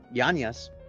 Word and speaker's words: Yanez: Yanez.